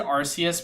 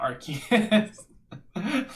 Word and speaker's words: Arceus: I pronounce it Arceus because that's how it's said in Japan, but either way, it's right.